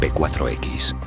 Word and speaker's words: P4X: Para cubrirse, adopta un alias, P4X, pronunciado como la palabra latina Pax, paz.